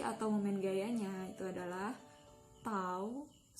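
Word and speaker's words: τ: momen Gayanya itu adalah tahu = F * FB kali pinter dengan keterangannya tahu ini dibacanya tahu ya itu adalah torsi atau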